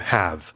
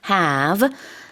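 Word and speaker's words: halve: have. And in England, we pronounce it very differently. How do you pronounce it? Have. And again, the very long a in the middle.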